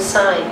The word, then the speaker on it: sign: And also the word sign, please sign your name, design, G is silent, so it's at the end of communicating, G is silent.